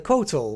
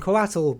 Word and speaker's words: Coatl: Next up we of course have the Kotal, which some people are pronouncing Coatl, both of them work.